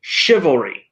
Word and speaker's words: chivalry: Chivalry, so ch is pronounced like a sh.